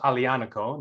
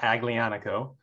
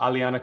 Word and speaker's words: Aglianico: blood but uh i think it's pronounced alianico the g is silent so it's not aglianico uh alianico but then again we're